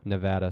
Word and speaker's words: Nevada: Nevada, sorry. You got to say it right. Otherwise, the locals will yell at you.